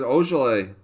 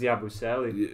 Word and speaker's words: Yabusele: There's Ogele. Is that how you say it? That's Yabusele. Yabusele, okay.